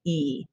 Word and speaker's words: y: middle of the sentence it means and and it's pronounced e okay so these words